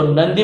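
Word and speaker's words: നന്ദി: मलयालम में इसको नंदी बोलते हैं, ये लिखा हुआ है नंदी। मे भी मेरा प्रोनाउंसिएशन उनके जैसा नहीं होगा, लेकिन इट इज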